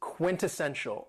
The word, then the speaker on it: quintessential: Another very cool adjective is quintessential, and this word has four syllables and the stress is on the third syllable. Quintessential. Quintessential.